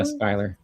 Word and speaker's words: Schuler: Skylar? Is that how you say it? Schuler, Skylar? Yeah, Skylar. Skylar?